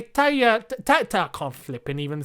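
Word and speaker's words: tagliatelle: italian he's it's taliafico it's like tagliatelli you don't say tagliatella you say taya tatta can't flip and even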